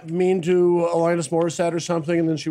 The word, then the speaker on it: Morissette: No, it's pronounced Morissette.